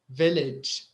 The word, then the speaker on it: village: about the ending gage it's written a g e but you pronounce it itch message luggage language village sausage manage so it's